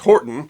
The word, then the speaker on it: Hoghton: The family first took the name Horton, spelled Hoghton but pronounced Horton, in 1150.